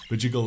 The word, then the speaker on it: Bidjigal: This video clip was filmed on unceded Bidjigal, I actually know what that is, but I always pronounce it wrong. Bidjigal land, which is obviously Aboriginal land in Australia, where I was born and raised.